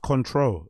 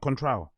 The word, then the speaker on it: Contro: It's pronounced Contro. It's not Contral. It's Contro. Contro.